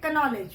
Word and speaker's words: knowledge: We do not say knowledge. We say knowledge. Again, the word starts with K, but the sound of K is silent.